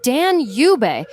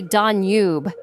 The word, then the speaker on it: Danube: And yes, it's pronounced Dan Yub. Or if you want to get fancy, the British say Danube.